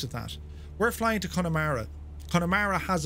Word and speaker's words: Connemara: There's an O in Connemara. No, it's pronounced Connemara. I know this on good authority. Connemara. It's not pronounced Connemara. It's Connemara.